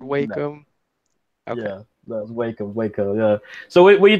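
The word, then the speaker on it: Wacom: How do you say wake 'em? Wake 'em. that was right. That one's right. That was right. Yeah, wake 'em tablet. Yeah. Because I've heard walk 'em.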